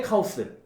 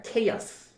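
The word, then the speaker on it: chaos: 대표적으로 이런 거 혼돈의 카오스 이런 말 많이 썼잖아 그지 그래서이 카오스라는 단어를 돈이라고 좀 생각하는 친구들인데 사실이 카오스라는 단어는 정확한 발음은 케어입니다 케어스 봐봐 이런 식으로 우리가 그냥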